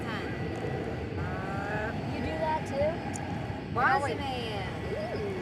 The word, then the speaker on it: Bozeman: Bossman. Bossman, we call it. Bossman.